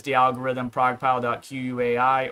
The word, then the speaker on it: Quai: Quai or they pronounce it K and it means like